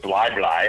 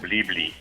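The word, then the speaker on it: Bli Bli: Hit us with how you pronounce that town. Well, it was Bly Bly, and I said Blee Blee.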